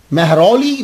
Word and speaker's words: महरौली: तो आप फिर वहां से महरौली में आ गए। इसके प्रोनाउंसिएशन भी चेंज होता रहता है, लेकिन इसका एक प्रोनाउंसिएशन जो है वो महरौली है।